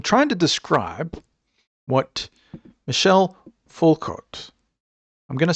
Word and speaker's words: Foucault: Well, I'm trying to describe what Michelle Fulcott, I'm going to spell it just in case I've butchered his name.